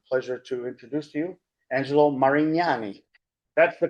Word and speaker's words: Angelo Marignani: Has two grown children and I I'm pleasure I'm pleasure to introduce to you Angelo Marignani. That's the correct pronunciation.